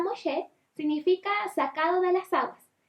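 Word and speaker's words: משה: Y este niño fue encontrado por la hija del faraón y le puso Moisés, porque en el hebreo, que se pronuncia Moshe, significa sacado de las aguas.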